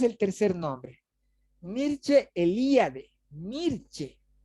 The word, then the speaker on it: Mircea: Mircea, no Mircea.